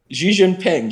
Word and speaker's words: Xi Jinping: Xi Jinping, yeah, he said it right.